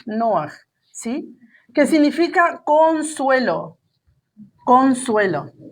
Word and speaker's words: Noaj: Noaj. Este se escribe Noé. Noaj.